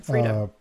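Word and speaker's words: Freida: Frida. Okay, but there's an EI. Yeah, Frida.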